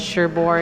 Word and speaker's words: Cherbourg: does a QA and he's doing umbrellas of Cherbourg am I saying it correctly yes yeah if